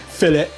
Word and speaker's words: Villette: But shout out to Chris Van Villette, because I've been told off for the way I pronounce Villet. Fillet. That's my Council of State roots coming out there.